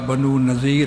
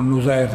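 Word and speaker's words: بنو نضیر: کرتے ہیں، جس طرح قبیلہ بنو نذیر ہے ضاد کے ساتھ، کچھ لوگ ان کو نزیر پڑھتے ہیں۔ قبیلہ بنو قینقاع، یہ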